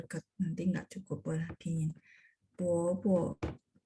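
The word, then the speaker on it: 伯伯: 爸爸的哥叫 Bobo. Ingat BO bacanya B baca P. Terus O dia harus sisipin UO gitu ya teman-teman kalau masih ingat ya. Bobo. Bacanya Bobo ya.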